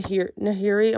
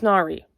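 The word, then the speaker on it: Nahri: this girl named n nahiri oh my God no it's nari it's nari sorry I was trying to remember how the audio book pronounced it this girl named nari who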